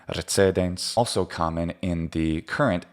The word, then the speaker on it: recedens: This speaker is using a TS sound, a ts for the C, E, tse, recedens. And that would be perfectly fine in the pronunciation of, say, medieval French or of medieval German pronunciation of Latin, including the more modern pronunciation of German Latin, recedens.